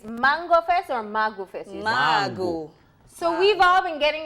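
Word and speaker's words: Mangu: So how do you spell it? It's just the mango. M-A-N-G-U. G-U, yeah. Mango. The only thing that's changed is the O from the end.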